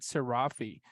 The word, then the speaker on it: Seirafi: am joined by none other than Mr sirafi they pronounced that correctly by the way yeah you